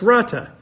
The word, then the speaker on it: Rata: It's like a little trill with the R that I can't do. But Rata. Okay, so it's Rata.